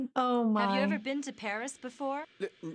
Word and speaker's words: Paris: 16% of the people of France live in Paris. Wow. So this is Paris. I can't believe that I've never visited the capital of France before. Yeah. Well, the locals pronounce it Pari.